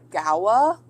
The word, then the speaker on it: Goa: Okay, A says Goa should be pronounced as, are you saying Gawa? Gawa? Or say yes if that is right.